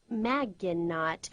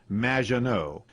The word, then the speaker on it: Maginot: Maginot. Welcome to the show. Thanks, Amy. However, you have mispronounced my name. It's Madge, which rhymes with badge, as in duh, and no as in more than you. Maginot.